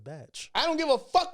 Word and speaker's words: Bach: but he pronounces it Batch.